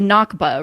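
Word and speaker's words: Nakba: from I I keep I keep saying it wrong, which is so embarrassing. The the Nagba, right?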